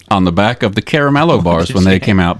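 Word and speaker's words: Caramello: you pronounce this chocolate bar that Hershey produces that's spelled c-a-r-m-a-l-o and she says Caramelo and I was like thank you so much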